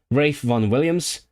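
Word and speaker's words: Ralph Vaughan Williams: Rafe von Williams. When you know you're a musician when you can pronounce Rafe Von Williams correctly, also pretty much the same period.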